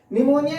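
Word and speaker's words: pneumonia: अदा होता है, वहां न्यूमोनिया की मीनिंग बार बार पूछी जाती है, क्योंकि इसमें P साइलेंट होता है। निमोनिया के बैक्टीरिया का नाम भी निमोनिया है।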